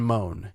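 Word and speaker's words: Mohn: two weeks uh Justin moan m o hn I believe is how you say the last name the guy with the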